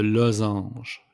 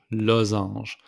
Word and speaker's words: losange: The diamond, it's le losange. Losange. The S is pronounced like a Z.